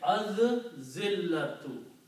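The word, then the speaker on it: الذِّلَّةُ: And when you read and pronounce, then lam is not pronounced by the rule of tajweed. You say az-zillatu. Okay. When zal is a shamsi letter, when lam comes before that, then lam is not pronounced and zal is pronounced twice.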